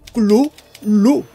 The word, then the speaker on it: Cthulhu: a su admirador que la mejor aproximación al nombre sería gruñir, ladrar o toser la sílaba imperfectamente formada como clu-lu, pero con la punta de la lengua pegada al paladar.